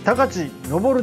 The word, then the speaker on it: 高知東生: ましたがしかしその読み方は高地上るであるから東急と